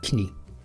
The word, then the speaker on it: Knie: Oh, that's literally how you say it in German, Knie.